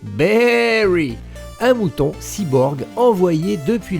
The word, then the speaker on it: Baaary: design kaos vous incarnez berry prononcé berry un mouton cyborg envoyé